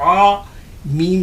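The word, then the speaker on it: عام: तो ऐन अलिफ ज़बर आ, और इसका फ़र्क भी साथ ही साथ उच्चारण भी सही करते चलेंगे तो आपको आम में और आम में फ़र्क इसी स्तर से समझना है और समझ के उसी समझ के अनुसार आपको उच्चारित करना है, तब जाके यहीं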